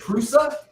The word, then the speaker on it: Prusa: on the first crusade is it prusa yeah like i think you're pronouncing it correct okay but yeah so